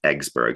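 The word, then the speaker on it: Yggsburgh: the city of Eggsburg, which he pronounced Eggsburg. Sort of one of his many puns. It's because it's Y G. He pronounced it egg.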